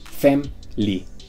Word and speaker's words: family: Otro ejemplo sería family. Abreviado es femly. Family.